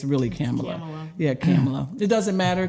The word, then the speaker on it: Kamala: it Cala or came I heard her correct someone and say it rhymes with Pamela so we all say Camala but it's really camela yeah camela it doesn't